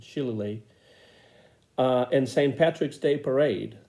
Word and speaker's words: shillelagh: I've never been sure how to pronounce that word, but I think that's the way Bing pronounces it, Shillelagh.